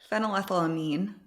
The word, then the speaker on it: phenylethylamine: Phenylethylamine. So it's an amine. It has an amine group at the end. So the A would be pronounced.